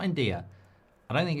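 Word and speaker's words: Ndiaye: N'jie is how you say it, Mark. N'jie. Okay. N'jie. Like okay. No, it's not like okay.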